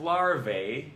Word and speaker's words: larvae: It's not larvae, it's larvae. Rhymes with Humvee.